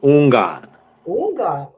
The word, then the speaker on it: Houngan: Today's guest is one of the presenters from HexFest, Hungjack. Am I pronouncing your name correctly? It's like the H is silent. So like Una, that's good to know.